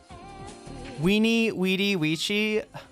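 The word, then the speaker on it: veni, vidi, vici: Weeny Weedy Weii. It's definitely weeny weedy or Winnie Witty. Classic Latin V was pronounced W, but it's ecclesiastical Latin.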